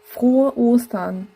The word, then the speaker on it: Frohe: В слове вхо у нас долгое о это значит губы вперд, отверстие маленькое и челюсть вниз. О. Потом идт очень расслабленная э она не э, она такая фо. Вы просто расслабляете всё и тогда получается правильный звук.